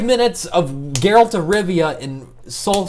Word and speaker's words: Geralt: Like 5 minutes of Geralt of Rivia in Soul 6. SoulCal 6, just to say I played Geralt of Rivia in the beta, and I literally 5 minutes, just one round. You mean Gerald of Livonia?